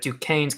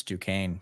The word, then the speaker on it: Duquesne: helping educate people on how to pronounce Duquesne, because it does not look like it should be pronounced the way it is.